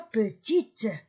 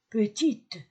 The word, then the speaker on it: petite: Elle n'est pas petite. J'ai lu T. Petite. Parce qu'il y a E à la fin.